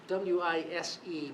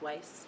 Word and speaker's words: Wise: It's It's spelled W I S E, but I believe he pronounces it Weiss. We e as if like wise, but it's Weiss.